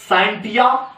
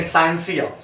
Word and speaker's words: scientia: जिसका नाम है SCIENTIA, साइंटिया, या आप कह सकते हैं साइंसिया। टिक और सा जैसा भी प्रोनाउंसिएट कर सकते हैं, साइंटिया या साइंसिया।